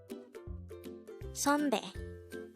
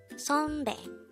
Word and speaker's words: 선배: 선배. 선배. This is pronounced as a two-syllable word. The first syllable is son, second syllable is be.